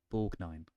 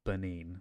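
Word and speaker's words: Borgnine: I originally said it is how it is pronounced borine and not Bine like I thought it might have been or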